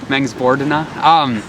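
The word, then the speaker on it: Mångsbodarna: Is it Mengsbordna? Mengsbordna, yeah. Put the wrong emphasis on the wrong syllable. Mengsbordna.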